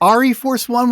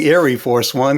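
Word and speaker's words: ArieForce One: Well, I've been saying Airy Force One because it's Airy like Force One. Like a play on Air Force, So I have no idea how the family pronounces their name, but that's the way I've been calling it.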